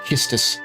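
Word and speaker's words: Quistis: For example, Quistus. Uh, the way that her name is written in Japanese is pronounced Kistus.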